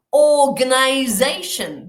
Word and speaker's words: organization: Organization. Dos acentos. Organization.